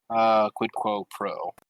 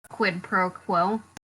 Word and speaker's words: quid pro quo: But potentially also quid quo pro is the next tact to take next time. You know, or however you pronounce that. Quid pro quo.